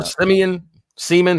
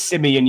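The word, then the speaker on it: Siemian: Yeah, Trevor Seaman. How do you say his name? It is Simeon, you're right, yeah, but I call him Trevor Simeon?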